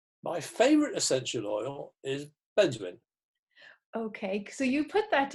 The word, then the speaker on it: benzoin: My favourite essential oil is benzoin.